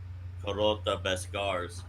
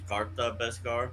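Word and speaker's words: Kar'ta Beskar: mass producing the Vod Carota Bescars. I've actually been pronouncing that wrong. I've always thought it was Carta Bescar because it's Kar Bet and Ta. No, it's Carota Bescar, the Heart of Iron.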